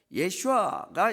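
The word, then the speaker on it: ישוע: 그러니까 예수님을, 예수라는 이름, 이건 이제 영어를 또 한글로 번역해서 그런데 예슈아가 이게 정확한 히브리식 발음입니다.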